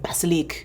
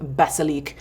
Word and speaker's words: Basilic: And I looked up uh this gentleman who just had like this beautiful French accent and he said the mandarin baselik. So I don't know. We're gonna go with baselik.